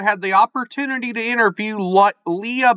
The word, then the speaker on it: Lya: released I'm here with did I pronounce your name correctly well you got the right my first name is pronounced Leah Leah the author